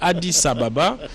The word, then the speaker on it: Addis Ababa: En Swahili, ça se prononce comme cela, Addis Ababa, entre Kinshasa et Addis Ababa, un point aérien pour ces réunions de grande importance.